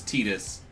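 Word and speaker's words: Tidus: I hear the official pronunciation is Titus, Nothing to worry but about.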